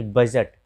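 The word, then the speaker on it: budget: फिर बजट, यहाँ भी डी के बाद जी है, तो डी का उच्चारण नहीं आता है।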